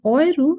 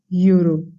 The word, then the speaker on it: Euro: Remember, it is Euro and not Euro, because EU anywhere in the word should be pronounced as Oi.